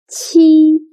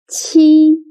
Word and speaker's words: 七: Qi sounds similar to the first sound of cheap, but when pronouncing qi, your tongue should be more flat, and also you need to stretch your mouth to two sides.